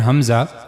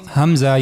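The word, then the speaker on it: ء: So for pronouncing hamza you have to use the lower part of your throat. Hamza.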